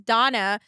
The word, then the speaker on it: Dana: Her name was Donna, but it was spelled like Dana, but she needed to be called Donna.